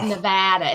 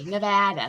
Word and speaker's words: Nevada: organization in nevada correctly oh no it's nevada it's like in new jersey nevada so it's the sierra nevadas but we live in